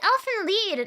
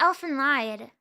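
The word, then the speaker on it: Elfen Lied: again isn't it it's it's Elfin lead not Elfin Lied did I get trolled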